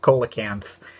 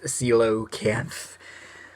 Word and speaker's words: coelacanth: pet my pet is coelacanth I keep wanting to say Cola cans because that's why it looks like I mean see you o kids that's really how you say it are you kidding me whatever but I did